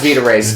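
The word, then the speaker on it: Vita-Rays: serum and dousing him in vit in a vita rays or vita it's pronounced vita rays.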